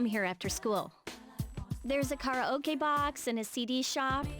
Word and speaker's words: karaoke: I mean, I know, like, here in English, it's karaoke. And that's basically just, like, the accepted way of pronouncing it. The actual Japanese pronunciation is karaoke. Because, kara means empty, and oke is short for orchestra.